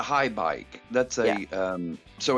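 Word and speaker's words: Haibike: It's H-A-I-B-I-K-E Mountain 5 bike. Well, that's the thing. That's a high bike.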